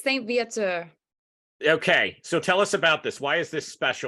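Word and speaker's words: St-Viateur: Montreal Canada delivered right Becky how do I pronounce this correct directly I keep butchering the name it's okay it's Saint via to okay so tell us about this why is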